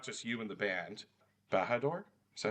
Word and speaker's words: Bahador: Bahador, is that how you say it? Yep. Yeah. Bahador Bahani.